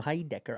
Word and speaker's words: Heidecker: Well, the name pronunciation was right on the money. Tim Heidecker.